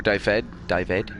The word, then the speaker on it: Dyfed: If you read the story of Pwyll, Prince of Dyfed, or Dyfed, you pronounce it properly.